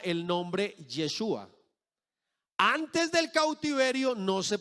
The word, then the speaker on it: Yeshua: Entonces, antes de que los judíos fueran a Babilonia, se pronunciaba, ¿cómo? ¿Cómo se pronunciaba el nombre? Jejoshua. Después del cautiverio comenzó a pronunciarse ese nombre como Yeshua. ¿Cierto? Yeshua.